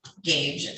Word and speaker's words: Goetsch: Okay, so this is in the matter of the people of the state of Michigan versus Cody Wayne Gage, and it's spelled Goetsch.